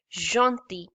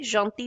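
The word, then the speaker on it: gentils: but in this word in this particular word we don't pronounce l we simply say janti jeant okay jonti means gentle okay now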